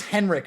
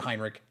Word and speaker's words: Heinrich: about heinrich schenker also he mispronounces heinrich the entire video he says henrik or something like that i'm like either he knows something i don't which is possible but i'm pretty sure everyone pronounces it heinrich i don't but it